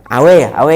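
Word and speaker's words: A&W: Ini nggak di-endorse, Awe ya bacanya.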